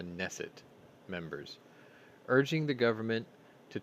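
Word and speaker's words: Knesset: spoke sunday to israel's is it the nesset the k is silent right you're supposed to help me here i think it's called the neset members urging the government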